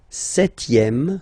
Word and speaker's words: septième: Le septième, so remember we don't pronounce this P here.